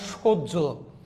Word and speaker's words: সহ্য: দেখেন হয়ের পরে জফলা থাকলে, যেমন আমি লিখেছি সহ, না ভাইয়া এটা সহ্য, এখানে লিখছি গ্রাহ্য, কিন্তু হয়ে যাবে গ্রাহ্য।